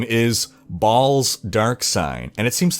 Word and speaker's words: Baal: Now, I pronounce it Baal and not Baal because of the obvious name pun, because goats go ba, so Baal.